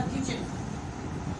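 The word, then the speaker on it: kitchen: टी जब भी CH, LE और EN के दरमियान आएगा, इससे पहले आएगा तो ये आपका टी हमेशा साइलेंट रखा जाएगा। फॉर एग्जाम्पल मैंने वर्ड लिखा किचन। अगर आप किचन वर्ड को ध्यान से देखो तो टी किससे पहले आ रहा है?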